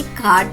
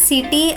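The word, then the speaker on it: city: సిఏటి క్యాట్ మరియు సిఓటి కాట్ అయినప్పుడు సిఐటివై కిటీ కావాలి కదా. లేదు పిల్లలు, సిఐటివై యొక్క ఉచ్చారణ సిటీ అవుతుంది, కిటీ కాదు సిటీ.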